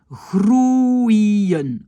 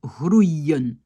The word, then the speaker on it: groeien: Donc, important de savoir, c'est pas un O et un E. Non, pas du tout. C'est un long, c'est un OU, pardon, pas un long, et c'est un I et un EN. D'accord? Ça, c'est important. Je le sépare donc comme ça. J'ai OU, j'ai I, groeien.